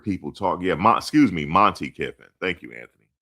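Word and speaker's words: Monte Kiffin: Yeah, excuse me, Monty Kiffin. Thank you, Anthony. I said Marty Kiffin, Monty Kiffin.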